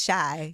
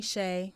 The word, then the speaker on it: Chey: c h y and you like pronounce Shai yeah because a lot of people call me Shay okay yeah and I